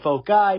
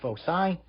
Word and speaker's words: foci: is foci you might hear some people say folk i but that's really not the correct pronunciation it's foci so when we decrease the distance eventually the